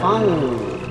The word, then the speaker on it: fungi: Giant fungi. Fungi. It's a soft G.